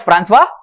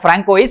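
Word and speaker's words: François: settlement was called as Francois Martin That's not Franco is Francois okay Francois Martin friends pronunciation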